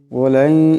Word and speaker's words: ولن: ولن, এখানে নুন সাকিনের পরে ইয়া আসছে, ঈদগাম হয়ে যাবে, ঈদগামের একালে পরিমাণ গুন্না হবে।